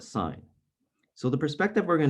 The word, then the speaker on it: sine: we pronounce this though i know it spells the word sin but we don't say that we call it sine so the perspective we're